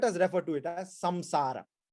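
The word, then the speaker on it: saṃsāra: This world, let us refer to it as samsara. Sansara. Actually, the anuswara should be pronounced as an, but sometimes in English it's written as samsara.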